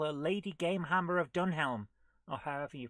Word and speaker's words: Dunelm: lady game Hammer of dunelm or however you pronounce it yes DM we don't pronounce the h in in DM yes